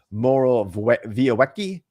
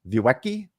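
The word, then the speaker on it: Morawiecki: say his name uh minister moro vioeki vuecki because in polish the w is a v said this about the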